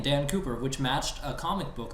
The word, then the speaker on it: Dan Cooper: Well, it's pronounced French, though. Dan Cooper.